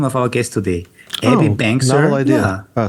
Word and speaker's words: Abby Bangser: pronounce is the name of our guest today, Abby Bangser. Novel idea. Yeah. Oh, say it again because I spoke over you. Abby Bangser, the name of our guest today. Hopefully, I pronounced it correctly, and I actually want to hear her voice.